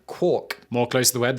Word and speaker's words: quark: murray gail mann and originally rhymed with mark over the years however the word evolved and is today pronounced more like cork quark more close to the